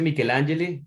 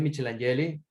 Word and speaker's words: Michelangeli: A ver, se pronuncia Michelangeli, pero toda mi vida en Michelangeli, Venezuela yo dije Michelangeli y así crecí diciéndolo, pero luego cuando emigré me tocó decirlo como es, un poco para que correctamente.